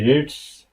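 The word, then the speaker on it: read: ফর্মে থাকে, ঠিক আছে, যখন রিড প্রেজেন্ট ফর্মে থাকে তখন সেটাকে পড়া হবে রিড। আর প্রেজেন্ট পাস্ট ফর্ম অথবা পাস্ট পার্টিসিপলে আইসা পড়বে কি রেড, রিড, রেড, রেড।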